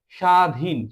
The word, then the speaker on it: স্বাধীন: স ব এখানে ব এর কোন উচ্চারণ হয়নি উচ্চারণ এই পাশে লেখা হয়েছে সাধীন স ব এর মানে ব এর কোন উচ্চারণ হয়নি স্বাধীন সাধীন সাদ স ব আকার দ এই ব